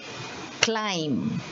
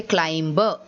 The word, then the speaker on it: climb: this word is called climb now see you will not say climber even though there is a b there you will say climb because the b is silent okay so c l